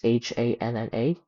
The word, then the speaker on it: Hanna: I I don't know how to pronounce his name, his last name, but it's h a n n a, so probably Hanna.